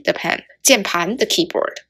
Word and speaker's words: 键盘: It's 键盘. 键盘.